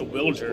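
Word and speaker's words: Wilyer: Willier Abreu. Apparently his name is pronounced Wilger, First start in Fenway Park.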